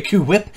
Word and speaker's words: HWYLA: That's how you say it, by the way, Kuwip.